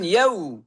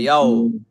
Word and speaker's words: يوم: জি, তাহলে এখানে ঠোঁট গোল হবেন, গোল করে বলেন ইয়াউ ইয়াউ। আপনি যদি গোল না করেন তাহলে উচ্চারণটা এমন হবে ইয়াও ইয়াও, কখনো ঠোঁট থেকে আসবে না।